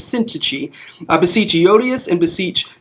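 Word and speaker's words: Syntyche: eodius uh let me i need to look up how to say it's syntachy i looked it up i spent like an hour today figuring out it's called sin her name is syntici i beseech yodius and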